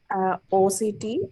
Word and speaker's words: OCT: in Egypt, we say octa. So don't say octa, it's like OCTA angiography. So OCT angiography.